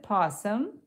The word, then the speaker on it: opossum: O is typically silent. Oh, well, that's good to know. Okay, so you pronounce it possum, but you spell it with a O.